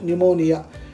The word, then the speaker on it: pneumonia: one that is pneumonia don't say pneumonia p is silent pneumonia it is acute infection